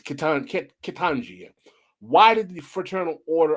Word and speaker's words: Ketanji: And this woman, Ketanji Brown Jackson, her job was to advocate policy to actually try to mitigate these type of disparities.